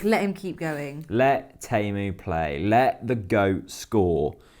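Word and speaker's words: Teemu: You're really good at pronouncing... It's Timo.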